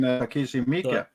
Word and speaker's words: Takeshi Miike: Oh, you mean Takeshi Miike?